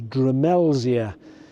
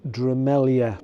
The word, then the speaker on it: Drumelzier: So from then on, it appears as Drumelzier, but it's actually pronounced Drumelzier because that Z with a tail is pronounced a Y.